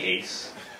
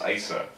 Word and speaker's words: Aise: And I say to her, "My name's actually pronounced Aise, but it's perfectly okay for one person to forget how to pronounce another person's name. Especially a name like Aise, which both starts and ends with a vowel."